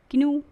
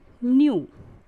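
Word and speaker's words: knew: किन्यू, बट किन्यू is wrong pronunciation, हम क्या पढ़ेंगे? न्यू।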